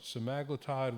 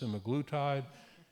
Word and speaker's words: semaglutide: Would you do no other intervention, get rid of the TAF, get rid of the integrase, start metformin, start semaglutide, which could also be pronounced semaglutide, and ramp it up to 1 milligram sub-Q a week, or some other option?